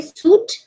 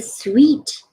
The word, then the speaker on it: suite: cannot mispronounce the words what do you say Suit no it's a sweet it's a suite it's a room it's